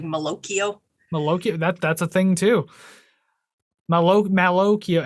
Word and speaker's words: Malocchio: Malocchio. Isn't it like Pinocchio? So it's like Malocchio.